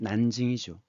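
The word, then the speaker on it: 南京: 그래 갖고 난 남경 자 한자로는 요렇게 쓰면서 우리는 남경하고 있지만 중국 발음은 난징이죠.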